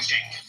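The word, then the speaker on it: Cenk: It's spelled C-E-N-K. Right, but in Turkish it's pronounced Chink.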